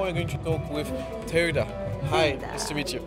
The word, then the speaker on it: Teuida: booth and now we're going to talk with teoda hi nice to meet you nice to meet you it's tida very hard to pronounce right now we'll learn to it these